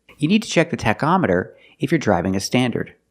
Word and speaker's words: tachometer: With the word tachometer, the CH makes a k sound. K, k, tach, tachometer.